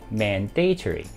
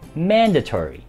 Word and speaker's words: mandatory: very informative。This YouTube channel is very informative。这个 YouTube 的频道就充满丰富的资讯的。第三，强制性的，很多朋友会将它读成 mandatory，但这个字其实应该是 mandatory。